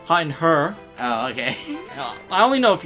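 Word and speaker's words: Herre: getting hot cutting her it's pronounced her its belt her have you spell that ap or or 80 h er re yeah okay it's my hurrr or is that her no it's her you're saying her it's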